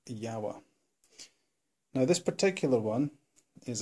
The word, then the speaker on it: Jawa: widely used was a Yawa, or as people in Britain or other parts or English-speaking countries would call them, Jawa, though the proper Czech pronunciation is Yawa.